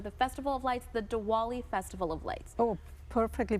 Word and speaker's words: Diwali: it these are the Festival of Lights the dwali Festival of Lights oh perfectly pronounced thank you diali festivals of Lights uh